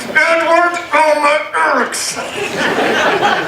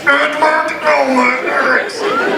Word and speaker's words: Edward Erekson: In fact, to this day, I still think my real name is pronounced with your teeth gritted. Edward Erekson. I'd go to school and they'd read my name and I said, no, it's pronounced like this. Edward Erekson.